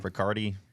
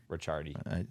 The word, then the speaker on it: Ricciardi: We We got got my Manny guy Del Riccardi. Ricciardi. If he's my guy, I should know how to say his name. Yeah, Ricciardi. Yeah, my guy Ricardo.